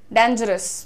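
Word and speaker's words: dangerous: रही हूं मैं आजकल डेंजरस ना बोल के डेंजरस बोलिए डेन डे इज the pronunciation everyone right तो कैसे बोलेंगे डेंजरस डेंजरस डेंजरस अस को बहुत जेंटल करने पे अस एकदम साफ करो ज पे ध्यान दो अब बहुत सारे लोग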